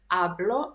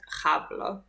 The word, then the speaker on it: hablo: Don't forget that in Spanish we don't pronounce h, so this is hablo, not hablo.